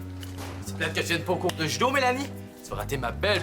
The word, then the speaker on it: Mélanie: Mélanie avec un Y, ça se prononce pas Mélanaï. Bon, excusez-moi, là, on vient juste de me prévenir que vous seriez ici aujourd'hui.